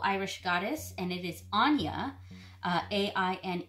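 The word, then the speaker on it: Áine: difficult to pronounce but yes her name is pronounced Anja and she is a wonderful Irish goddess of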